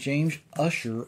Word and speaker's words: Ussher: And a man named James Ussher a long time ago, it's pronounced Ussher, but it's spelled U-S-S-H-E-R.